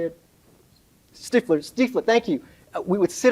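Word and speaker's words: Stiefel: Stifler, thank you.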